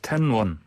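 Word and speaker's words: 天问: 텐원. 예. 이게 우리 발음으로는 천문이죠. 천문.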